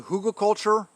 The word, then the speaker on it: hugelkultur: know anything about the hugelkultur method of gardening look it up hugo h-u-g-e-l hugo culture culture spelled like culture method of gardening um